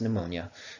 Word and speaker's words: pneumonia: pee in there anyways you don't pronounce the P is pronounced pneumonia pneumonia is a bacterial